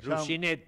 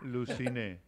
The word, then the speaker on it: Lucine: sí Ah bien Okay ahora vamos a decir bien ya vamos a aprender lucin lucin lucin como alucin sin la a lucin bien y eso que